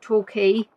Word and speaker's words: Torquay: Now in 2021 the town of Torquay, in the 2021 census, there was a population of 52,034 people.